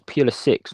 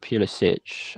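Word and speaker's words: Pulisic: robert faddle misspelling pulitzix he says peeler six not pure sich i wonder why that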